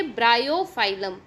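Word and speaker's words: Bryophyllum: Again pronunciation देखिए, ब्रायोफाइलम.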